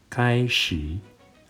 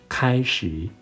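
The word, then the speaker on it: 开始: Not かいしー, but kaishi.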